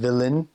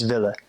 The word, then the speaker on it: willen: And they drop the N when they say it. They just don't pronounce it. So instead of willen, it's ville.